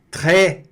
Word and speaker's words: très: Très, olha aqui, très. O S não se pronuncia aqui, depois eu vou explicar isso com calma, tá?